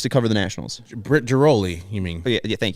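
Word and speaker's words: Ghiroli: And I think very interesting, PJ Mooney and Britt Griffel, and I might be saying her name wrong, Grihol. The Baltimore. I thought she used to cover the Nationals. Britt Giroli, you mean?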